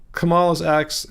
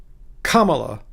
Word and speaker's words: Kamala: Yes, the accent for Kamala's name is on the first syllable. Kamala.